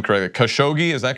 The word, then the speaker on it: Khashoggi: journalists name Jamal I'm not sure if I'm pronouncing his last name credit khashoggi is that correct that's right and for those